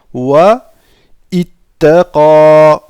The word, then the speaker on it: واتقى: Ici nous avons un alif, d'accord? Mais que nous ne prononcerons pas lorsqu'on fait la liaison. واتقى. Si nous nous arrêtons ici, nous dirons wa ittaqa.